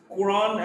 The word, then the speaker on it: Quran: There are exceptions. Quran and Quranic, quote in these words, QU is pronounced as Q.